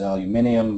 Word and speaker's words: aluminium: calcium sodium barium and to keep the pattern alive you'd pronounce it aluminium but of course most